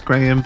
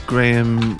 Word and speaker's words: Graham: My full name is Graham. Graham is just a name my mum liked. It's spelled Grame, not Ham.